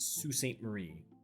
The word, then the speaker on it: Sault Ste. Marie: I know that says Sault Ste. Marie, but that's pronounced Sault Ste. Marie. The Sioux, as it were.